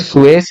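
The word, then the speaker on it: Suess: हो जाएगा biosphere reserve Edward सुवेश या एडवर्ड सुस भी कहते हैं इनको क्योंकि इनकी स्पेलिंग लिखी जाती है एस यू E double S तो एडवर्ड स्वेस ने बायोस्फीयर रिजर्व वर्ड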